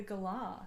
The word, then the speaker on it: galah: Well, isn't the gala from like your neck of the woods, or no? The Oceania somewhere. The galah, thank you.